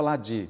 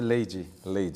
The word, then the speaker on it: Leide: A gente pronunciava Ladi, mas é Leide.